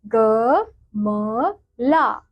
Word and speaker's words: गमला: क्योंकि ल के आगे आ की मात्रा लगाई गई है तो इसलिए इसका उच्चारण क्या होगा, ला। तो हम क्या बोलेंगे इसे, ग म ला।